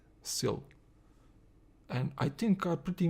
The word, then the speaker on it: Syl: Are we pronouncing it right? Yes, Syl. Syl.